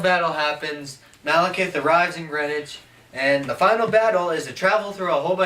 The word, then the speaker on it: Greenwich: is like 15 minutes from the apartment it's Greenwich yeah which spelled like Greenwich if you're an American green sandwich